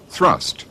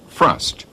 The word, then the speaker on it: thrust: his country after Johnson educated people would spell and pronounce words according to the dictionary half not off thrust not frust chain not Chine and so copney the